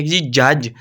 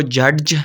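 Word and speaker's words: judge: आगे सी आ है जी जज हम इसको जडज नहीं बोलेंगे आगे जी एज तो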